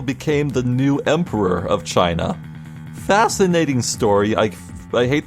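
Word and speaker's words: Qin: story about uh ancient China in the Chin Dynasty I think it's pronounced a constable was um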